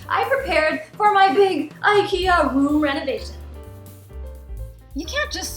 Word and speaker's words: IKEA: affordable swedish furniture chain ikea or ikea for a more proper pronunciation like a child visiting